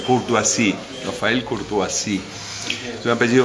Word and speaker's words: Courtoisie: en Proust, porque bueno, tengo un apellido francés que es difícil de pronunciar, es difícil de leer, pero es fácil de pronunciar, Courtoisie, Rafael Courtoisie.